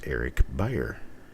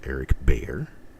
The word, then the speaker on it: Beyer: It's Eric Beyer. Not Eric Breyer. Not Eric Bayer. It's Eric Beyer. Buyer, just like a buyer, someone who buys.